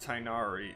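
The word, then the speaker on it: Tighnari: all right so it is definitely pronounced tynari in gunshin impact all right wonderful more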